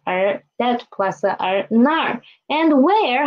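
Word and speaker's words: 那儿: It is nar, right? Nar. So we can see here is this plus a er, zhe plus a er, and there is na plus a er, that plus a er, nar.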